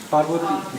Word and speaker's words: Parvati: How do you say Parvati in the proper accent? Again? Parvati. Yeah, because in Australian it sounds like poverty.